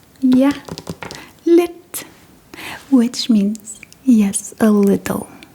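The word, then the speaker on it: lidt: And if you're not completely confident, you can also say yeah lit which means yes a little.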